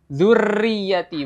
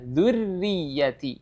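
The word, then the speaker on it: ذُرِّيَّتِي: mengucapkan huruf ro ya huruf ro itu jangan getarannya jangan terlalu banyak jadi bukan zurriyati bukan zurriyati ya getarannya tidak terlalu banyak sedikit saja dzurriyati ya jadi perlu hati-hati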